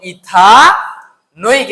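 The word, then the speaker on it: ethanoic: এটার উচ্চারণ কি হবে? নৈক হবে। তাহলে ইথা নোইক এসিড। এটা কি বলতো?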